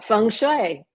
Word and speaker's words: Feng Shui: Well, Feng Shui.